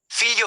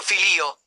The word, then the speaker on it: figlio: combination gl plus i The combination gli creates a special sound in Italian similar to the li in the English word million.